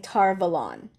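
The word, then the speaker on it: Tar Valon: Tarvalin is how I say it. I think on the show they're going to be saying Tarvalon, which I think is actually a better pronunciation than how I say it, because it sounds like Avalon.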